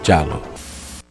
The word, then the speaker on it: giallo: um filme do gênero giallo. Eu adoro a pronúncia italiana. Giallo, giallo, Demoni é um filme italiano de gênero giallo, capisce?